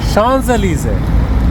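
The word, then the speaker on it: Champs-Élysées: দাঁড়িয়ে আছি শানজেলিজে। এবার ওটাকে একটু বাংলা তর্জমা করে দিচ্ছি। ফ্রেঞ্চ উচ্চারণ হচ্ছে শানজেলিজে, ইংরাজিতে লিখলে ওটাকে চ্যাম্পস এলিজেস।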